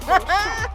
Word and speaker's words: Baunchand: Her name is Sashika Baunchand, and you gotta say it like that. Baunchand. It's French.